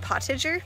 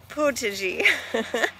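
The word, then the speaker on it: potager: potion garden also like if i were pronouncing in english it would be like pottedger but i'll put how you spell it here but it's potagi anyway so that's good in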